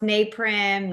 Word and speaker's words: Naprim: Neprim. Neprim. Yes, it gets pronounced naprim.